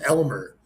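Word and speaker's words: Aylmer: by a talking wormlike Parasite by the name of Almer pronounced Elmer which makes it even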